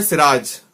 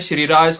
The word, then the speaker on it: सिराज: दोस्तों, मेरा नाम है सिराज और लोगों ने इतनी सारी वेरिएशन बना दी है उसकी। कोई बोलता है श्रीराज, कोई बोलता है साईराज, कोई बोलता है शिवराज